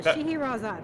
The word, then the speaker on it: Scheherazade: And someone in chat was nice enough to point out it's pronounced the magic of Scheherazade. So Scheherazade. I got this now.